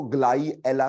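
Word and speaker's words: Gly-Ala: जैसे मान लो अगर आपके पास ग्लाइसीन और एलानीन 2 जुड़े, ठीक, ग्लाइसीन और एलानीन 2 जुड़े, तो हम उसको ग्लाई एला के नाम से प्रोनाउंस करते हैं।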